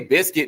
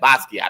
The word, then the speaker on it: Basquiat: I ain't say biscuit. No, y'all saying it wrong. Y'all saying it wrong. I hear y'all kindergarten. That's not biscuits. I'm trying to think about Popeyes. I know you think about Popeyes. Don't think about that. I said Basquiat.